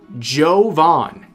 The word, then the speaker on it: Jovin: Uh, username pronounced Jovon.